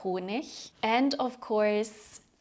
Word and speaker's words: Honig: like der Teppich, Ich, like der Honig, pronounced ich, so der Honig, and of course like der Lehrer.